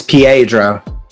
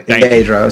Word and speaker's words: Pietro: Real quick, it's Pietro. Like you say his name, Pietro.